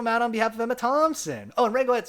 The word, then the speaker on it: Thompson: progi frenzy says Emma Thompson is my favorite Emma and my mom pronounces her name with it th like in thick oh Emma Thompson and